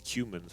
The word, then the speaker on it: Cumans: I think it's Cumans, actually, or Kuman. I think it's Cumans. That's how they pronounce it in the campaigns.